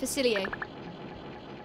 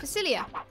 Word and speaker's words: Facilier: It's pronounced Facilier. No, it isn't. It's not pronounced like that. It's pronounced Facilia. Like Facilier. Like with an A on the end.